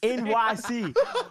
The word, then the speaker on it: Enyce: But I just found out last year it was pronounced Otherwise. NYC.